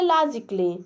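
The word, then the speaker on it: logically: और अगला है जैसे लॉजिकली, ए को जो है साइलेंट कर दिया जा रहा है, ठीक है, और देखिए लास्ट में डबल एल वाई आ रहा है, तो देखिए इसको पढ़ेंगे लॉजिकली, लॉजिकली इसको मतलब होता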